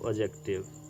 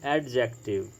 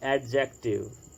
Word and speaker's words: adjective: This word is pronounced as adjective rightly. Okay, there is another pronunciation of this word that is adjective. Some students pronounce it like adjective, but the right pronunciation is adjective. D is silent in this word.